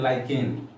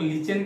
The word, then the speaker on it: lichen: इसको आजकल लोग लीचेन के नाम से पढ़ते हैं, स्पेलिंग होता है LICHEN। पहले हम लोग लाइकेन पढ़ते थे, आजकल का स्टूडेंट उसको लीचेन पढ़ता है। तो खैर जो भी आप पढ़ें, लाइकेन पढ़ें चाहे लीचेन पढ़ें, तो इसी लाइकेन या